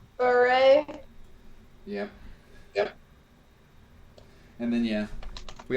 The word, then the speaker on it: berbere: So we happen to have some Ethiopian berbere spice, or berbere. I can't even pronounce it correctly. Beret.